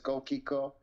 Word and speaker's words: GoldChicco: Remember, I'm Italian, so we read and pronounce the way we write words. So, so it's GoldChicco. Pretty much it's gold nugget between an English and Italian word put together.